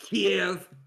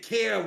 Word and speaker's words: Kiev: And it's pronounced Kiev. I said that. No, you said Kiev like Kevin.